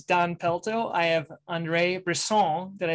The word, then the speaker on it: Brisson: it is it Andre or Andre Andre Andre bristen BR okay I don't know if I can but I'll try hello and welcome to Podiatry practice Mastery my name is Don pelto I have Andre Bron did I say it right you got her